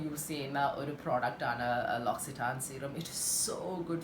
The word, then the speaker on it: L'Occitane: and the spelling is something else, but you pronounce it as L'Occitane, okay?